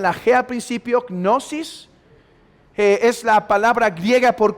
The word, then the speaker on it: gnosis: recibían cierta gnosis de ahí viene el gnosticismo gnosis cómo se pronunciarán lage al principio gnosis es la palabra griega por conocimiento y el